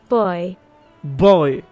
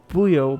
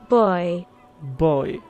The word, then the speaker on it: Buoyo: where is this buoyo that's how you pronounce it let me just double check sorry about that i'm not a native speaker so boo boy boy okay interesting i would have pronounced it booyo but i guess boy boy like a boy boy okay sorry about that